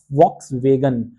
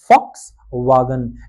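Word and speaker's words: Volkswagen: होता है फॉक्सवागन, नॉट वॉक्स वेगन, तो वो होता है जर्मन में फॉक्सवागन।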